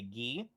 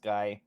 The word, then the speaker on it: Ghee: and uh i play ghee also sometimes pronounced guy but not in reality and uh gee